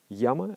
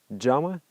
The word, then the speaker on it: yama: And they created a set of principles called yama and niyama, or another pronunciation is jama and niyama.